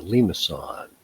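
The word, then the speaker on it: limaçon: general shape called a limason it's a soft c really it's not pronounced khan it's pronounced son okay so first of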